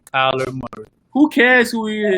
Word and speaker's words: Kyler Murray: Say the man name right. It's Kyler Murray. Say it right, Kyler Murray.